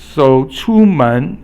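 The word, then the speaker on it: 出门: So 出门, it means to go out of the door. So it means to leave home. 门 is second tone, but remember 出 is first tone. So 出门. But in China, if you're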